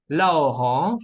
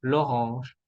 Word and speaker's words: l'orange: La plus orange, la orange, vamos a decir l'orange, la naranja.